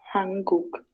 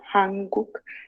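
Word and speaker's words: 한국: Tanto acá voy a ir sílaba por sílaba, ¿ok? Lo que es Corea, acá primero Han y Cook. Hanguk.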